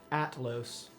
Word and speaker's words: Atlos: Atlos. Atlas is nice. Los. A-T-L-O-S. Atlas. I've never heard that. Like Atlas, but Atlos.